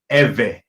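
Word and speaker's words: Ivri: In English, you will spell this I-V-R-I, and it's pronounced Ewe.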